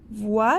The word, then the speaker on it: voit: Et voit, voit, le T, on ne la prononce pas.